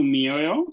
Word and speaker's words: mioyo: when you separate it, I know that sometimes I might say it very fast, so you might not get to hear the syllables, but we have mi or yo, mioyo.